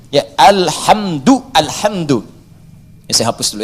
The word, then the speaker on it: alhamdu: Jadi al-qira'us sab'ah ala dhammid dal, bacaan di qira'ah sab'ah, semua para pembacanya itu mendhammahkan huruf dal di alhamdu. Ya, alhamdu, alhamdu.